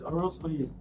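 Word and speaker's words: Oronsaye: Please, what's the right way to pronounce it? It's Orosanye.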